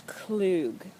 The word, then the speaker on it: Klug: That's how you pronounce our name. A lot of you probably have been wondering, oh, Klug. No, it's Klug.